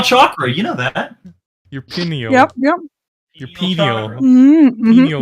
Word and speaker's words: pineal: Your pineal. Yep. Your pineal. Mm-hmm, Pineal mm-hmm. gland. Yeah. That's how you pronounce it.